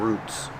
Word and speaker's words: root: has a lot of roots pronunciation make it long ooh ooh like food Roots one root and two